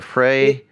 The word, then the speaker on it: Frei: Is it Frei or Fry or Frey? It's Fry because phonetically it's the first half of my last name, which is Fry.